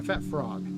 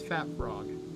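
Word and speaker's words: Phat Frog: Yeah, it's sorry, Fat Frog. There you go, because the PH should be an F, so it's Fat Frog.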